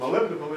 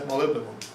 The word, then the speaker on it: molybdenum: Some people that don't know how to pronounce that will say molybdenum, but it's molybdenum is what it is. Looks like molybdenum to me too. Molybdenum. I may be saying it wrong myself.